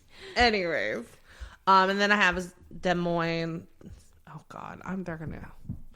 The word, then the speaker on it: Des Moines: And then I have Des Moines. Oh, God. They're going to slaughter me. How do you pronounce that? Des Moines.